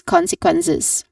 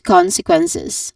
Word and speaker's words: consequences: is um usually or it is pronounced with a buzzing sound with a voiced Z sound. Okay. So this is consequences. All in all, we say it together lead to consequences.